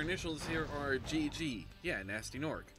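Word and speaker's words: Gnasty Gnorc: second-guess it and also all their names are like nasty nort with a silent G in front of it so your initials here are gg yeah nasty Nork how do you get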